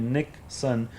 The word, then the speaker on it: Nikson: me personally, like direct, they'll call me NIKSON, and it's not like spelling the same as Nixon, like the president, but it's Nick. My name is spelled as Nik, because it's Nick, short for Nikolai, and then son is